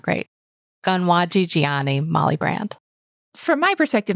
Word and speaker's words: Konwatsi'tsiaienni: So I will pronounce it, but my pronunciation is not great. Konwatsi'tsiaienni Molly Brant.